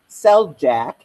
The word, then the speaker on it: Szeljack: I am Sister Szeljack. If you ignore the Z, you'll probably be able to pronounce it.